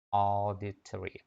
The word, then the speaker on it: auditory: Các bạn nhớ nha, cái chữ này đọc là auditory, auditory, auditory. Nó giống như chữ O bên mình nhưng đọc ở sâu bên trong. Ở bên trong của họng.